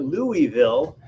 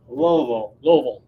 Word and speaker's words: Louisville: that you used because here in Texas we call it Louisville but I understand in Kentucky they call it Louisville Louisville it's like one syllable mobile so close to one